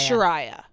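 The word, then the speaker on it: Chiara: And I I threw you off cuz I said Kiara. Is it okay? Cuz I know someone named Kiara and they spell it the same. The way that she spells it is hard to remember. But it's Sharia.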